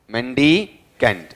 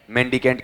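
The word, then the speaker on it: mendicant: मेंडीकेंट। Saint है या cantt है? बताओ स्पेलिंग बताओ। देखें एम ई एन डी आई सी एन टी।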